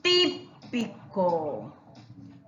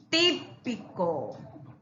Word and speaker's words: típico: estos ejemplos a ver dice típico típico un plato típico la utilidad o verdad plátano aplastando miren está tildado está justamente en la antepenúltima máquina también lleva tilde